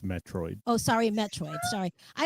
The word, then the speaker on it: Metroid: And that's funny because Ren's put in the chat um Meteoroid because that's an old game, too. But that was not that was not It's pronounced Metroid.